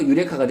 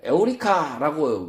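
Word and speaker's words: εὕρηκα: 안 했는데 그 영어 영어권 사람들이 이유를 그리스도의 그 이유자로 보이는 이걸 어 유래 유로 읽어 버렸다는 거죠. 그래서 유레카가 됐지. 실제로는 그 아르키메데스가 뭐라고 불렀냐? 에오리카라고 외쳤다는 거죠.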